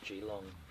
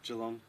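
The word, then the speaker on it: Geelong: Brewery a few times we call that gong cuz we're not locals it's spelled with two e it's therefore it's gong how do you say Jong jalong yeah but it is spelled with two e yeah so therefore it should be gong right yeah like you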